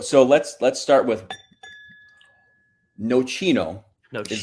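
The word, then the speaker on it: Nocino: So, so let's let's start with no chino.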